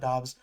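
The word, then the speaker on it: Doubs: I thought Dobs had a good game, but I said while watching it, I that I think Dobs is one of the most confusing Romeo Dobs, is am I saying his last name correct?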